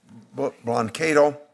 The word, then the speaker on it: Blancato: The coalition and staff and the national coordinator, Bob Blancato is the way it's pronounced because I've known him for 30 years, maybe 40 years.